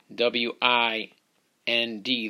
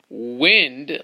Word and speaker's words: wind: here's a tricky one WI nd this is one of those words that can be pronounced both ways you could read it as wind like it's very windy outside but it's also pronounced